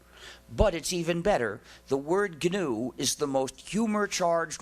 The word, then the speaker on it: GNU: still is goodw so please pronounce the name with a hard G pronounce it gnu there's another erroneous pronunciation